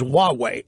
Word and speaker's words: Huawei: Now, that is spelled Huawei. For those in real Linda, maybe easier to think of it as Huawei. But the correct pronunciation is Huawei.